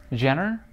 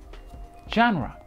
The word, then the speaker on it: genre: example take this word how do you pronounce it Jenner J it's actually JRE genre if we only read